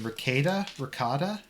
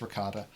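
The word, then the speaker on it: Rekieta: So How do you pronounce his name? Rakita? I think it's Ricotta.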